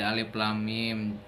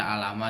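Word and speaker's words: الم: Jadi pembuka surat yang diawali oleh huruf-huruf muqatta'ah itu dibacanya huruf per huruf seperti satu-satu itu. Seperti alif lam mim, tidak dibaca alama seperti itu huruf-huruf muqatta'ah, pembuka surat dengan huruf-huruf muqatta'ah.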